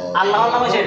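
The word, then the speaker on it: الله: অবস্থায় মোটা হবে এক অবস্থায় পাতলা হবে আচ্ছা আল্লাহ ঠিক আছে এইযে আল্লাহ এটা এটা কিন্তু আল্লাহর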